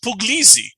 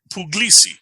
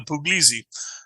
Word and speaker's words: Puglisi: uh the plaintiff yeah not puglisi which is the first time I've ever heard it pronounced puglisi I always thought it was pogosi um but it's pugliesy that's how the judge pronounces the judge could be pronounced here wrong everyone calls them pugs but it's yeah but it's uh it's uh puglizzi and um I I